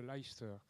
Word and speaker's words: Leicester: york et de l'université de leicester en angleterre c'est comme ça qu'il faut prononcer la vente par l'europe